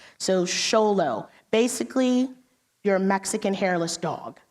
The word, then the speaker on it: Xolo: It's nickname as Xolo, even though it's spelled with an X. So Xolo, basically your Mexican hairless dog is what you're looking at right there.